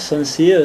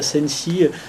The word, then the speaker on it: Sense: Donc voilà, toute cette idée-là se regrouper dans le mot sens en anglais, et voilà, et peu importe la langue, il peut se prononcer sens, sensé, sensi, et donc moi ça m'intéresse, voilà.